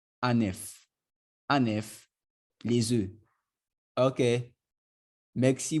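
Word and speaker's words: un œuf: Now the F here is pronounced. It's pronounced in this case. That's why you hear it being pronounced as F. Anef.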